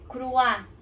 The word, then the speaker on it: croix: tem O e I, tem esse som de croix, croisé. Então, croisé a gente fala, mas ele se escreve croisé, né?